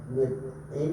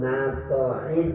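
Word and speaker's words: نطع: Ini cara bacanya. Boleh nit'in, boleh naf'in, ada 4 macam. Yang pertama kasrun nun nit'in ma'a fathi ta' nita'in ya. Wa bi fathiha na wa fathin nun nata'in boleh. Wa kasraha ni ma'a sukuni ta' nit'in.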